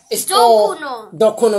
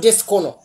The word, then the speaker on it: dokono: Dokono, yeah. Dokono. It's not Discono.